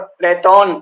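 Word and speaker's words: Πλάτων: और ये जो अंग्रेजी वाले हैं वो सॉक्रेटीज और प्लेटो कहते हैं। उसका सही उच्चारण लगभग प्लेटोन ऐसा कुछ है।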